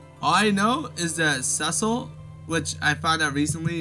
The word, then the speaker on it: Cecil: everything about it all I know is that sessile which I found out recently is how you pronounce his names whoops I didn't want that